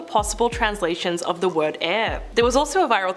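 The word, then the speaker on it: Aire: So Kylie had to clarify that it was actually pronounced the same way as the element.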